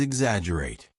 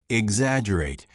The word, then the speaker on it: exaggerate: Word number 7 is exaggerate. Exaggerate. Repeat after me. Exaggerate. Remember, there is a double G in the spelling, but we do not pronounce the G, right?